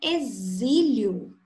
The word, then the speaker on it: exílio: A palavra exílio tem a letra X e recebe o mesmo fonema da palavra casamento, da palavra zebra.